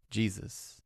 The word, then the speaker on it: Jesus: reading older poetic texts, the S sound at the end of the name is often left unvoiced to avoid the clunky triple S sound. It is clunky pronunciation. Jesus. Yeah, I'm going to stick with that. How it works. You pronounce the name normally prov uh perhaps lingering a fraction of a second longer on the final s to imply possessive, but without adding a new syllable.